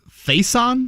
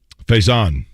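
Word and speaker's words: Facyson: one name i probably looked up this guy's pronunciation uh before i say it on air i'm sh faison is that where you're going with jake f-a-c-y-s-o-n faison faison brandon you may be right cornerback 6-2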